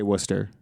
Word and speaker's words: Worcester: How do you say Worcester?